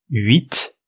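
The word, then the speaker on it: huit: ça c'est le 8 la nuit et puis 8 vous remarquez qu'on prononce le T d'habitude on prononce pas un t final en français mais là on le prononce 8 la nuit là on prononce pas le T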